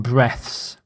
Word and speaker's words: breaths: of the noun form, breaths. It's exactly the same as the same spelling as breathes. So he breathes is the verb form, but breaths is the plural noun form. Same spelling, different pronunciation.